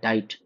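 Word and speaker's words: Diet: डाइट डी आई ई टी डाइट।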